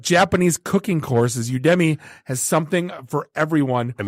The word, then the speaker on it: Udemy: And honestly, I'm glad they included a pronunciation guide because I assumed it was Udemy. Like, hey, it's from Udemy. Right. But that's not, it's Udemy. Udemy.